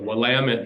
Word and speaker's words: Willamette: I got corrected several times but it's the Willamette damn it no you should be well like you shouldn't be mispronounced uh Texas Texas names like and I